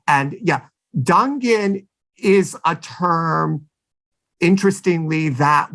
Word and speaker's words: Dungan: And it's still that term Dungan, which has an alternate pronunciation Dungan, is still used, for